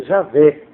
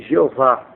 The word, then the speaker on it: Javé: Deus no antigo testamento a pronúncia correta Javé que a ca de Jeová né alardeiam com a pronúncia distorcida de de Jeová e nesse ponto eu